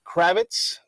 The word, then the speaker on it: Kravetz: Kravetz.